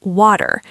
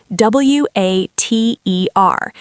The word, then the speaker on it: water: Let us use the classic example the word water. W A T E R in standard British English or received pronunciation. We maintain a very clear sharp T sound.